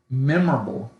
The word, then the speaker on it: memorable: Because one of my most memorable gifts that I got. Memorable. That's how you pronounce it. Memorable. With that accent on the E.